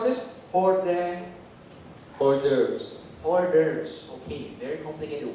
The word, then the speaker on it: hors d'oeuvres: How about the entree and how do you pronounce this? Hors d'oeuvres.